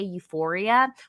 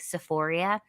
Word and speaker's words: Euphoria: But the funny thing is like they call it like Sephoria. So they're like, my favorite TV show is like Sephoria. And I was oh, like, Euphoria?